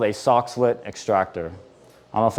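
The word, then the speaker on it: Soxhlet: my colleges we have a system called a socklet extractor I don't know if anybody's heard of that socklet extractor it's essentially spelled like s Sox h l t socklet extractor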